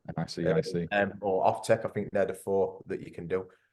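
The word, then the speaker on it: NICEIC: Well, through your awarding body, so your competent person scheme, so APHC, NAPIT, or NICIS, I always say it wrong. NICIC.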